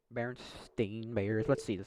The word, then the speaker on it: Berenstain: Berenstain Bears. Let's see how they pronounce it. The Berenstain Bears. Ah, they pronounce it Stain.